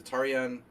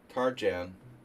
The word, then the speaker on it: Tarjan: The Tarian Tarjan in American. He pronounces his Hungarian name in an American way.